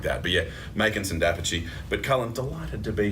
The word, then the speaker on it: d'Apice: I've got to talk pronunciation. I'm sorry, Dapici. I'm so sorry, Makinson Dapici.